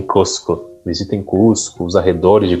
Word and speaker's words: Cusco: Mas eles pronunciam Cusco.